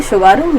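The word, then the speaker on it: Tsugaru: सुगारू यानी कि ये देखा टी लगा के टी साइलेंट है इसमें सुगारू स्टेट।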